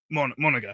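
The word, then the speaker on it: Monangai: Mon guy.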